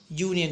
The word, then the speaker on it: union: are the examples or union see you you can observe the beginning of the word Union you as we all know you as an Robin but when it is pronounced it sounds like yah Union yah yah sound